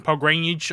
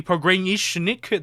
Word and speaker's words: Pogranichnik: I'm going to be saying Pogranich a lot. Apparently, it's actually Pogranichnik. That is how you pronounce his name instead of just calling